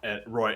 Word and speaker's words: Roy: and and Ro um Roy and is like sorry it's spelled Ro but it's Roy Roy um well it's Roe y so it's Roy Roy yeah um Finn